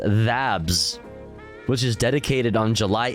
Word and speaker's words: THABS: Pronounced THABS, which is dedicated on July 8th to the